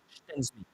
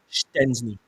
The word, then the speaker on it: Szczęsny: Szczęsny. There we go. Szczęsny. That's how you say it. Wojciech Szczęsny.